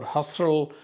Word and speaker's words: Husserl: She went to the university, was the pupil of one famous philosopher called Edmund Husserl, or Husserl, depending on how you pronounce it, who was a professor of philosophy, particularly phenomenology.